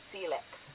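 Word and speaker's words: Syilx: Peachland in the summer, there were the Seilks, pronounced Seellex, a sovereign people whose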